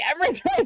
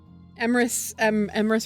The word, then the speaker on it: Emrys: Okay, so I guess Emrys rhymes with penis. Y'all are horrible. Emrys rhymes with Riz. Not quite, not close enough.